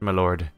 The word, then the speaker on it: milord: of Thrones if it's spelled mord then it's pronounced me Lord M Lord my Lord is two words milord is an abbreviation of the two if you